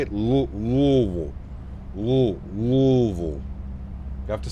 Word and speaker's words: Louisville: That's how you have to say it. Louisville. Louisville. Has to be said like that or you're doing it wrong.